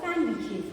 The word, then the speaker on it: sandwich: Okay, when you say Wednesday, D is silent because we do not pronounce it as Wednesday. Similarly, you are all very fond of sandwiches, not sandwiches.